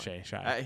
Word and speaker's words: Shai: Shy. Shay. Shy. Whatever. Doesn't matter. Shy. Shay. Yeah. Sh. Come on. Shay. He's an MVP. You got to know how to pronounce his name at this point.